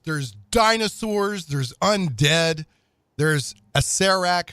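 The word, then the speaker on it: Acererak: dinosaurs there's Undead there's a CEREC who some people probably say Oh Sara Iraq which I would have said up until recently once I saw the pronunciation guide the arch Lich of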